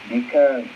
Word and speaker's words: الدكان: هو في الدكان. يا أيوب دال من حروف الشمسية، فنقول الدكان.